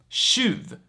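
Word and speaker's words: tjuv: that in a second so first we have the word shiv shuv which means thief and as you can see it's spelled with tj here then we have shul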